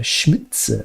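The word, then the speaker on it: Šmicer: Czech you know uh schmitzer is the pronunciation because the S has a little V on the top so it's a sh and the C in check is TS so schmider schmitzer okay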